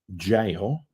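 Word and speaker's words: gaol: did the Kremlin Road jail or go as I call it it's jail still try to get across to her now that is spout G but is still pronounced J I know um that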